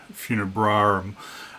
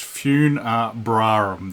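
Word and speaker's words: Funebrarum: yeah it be pronounced fun Brum there's two RS b r a r u m so yeah I was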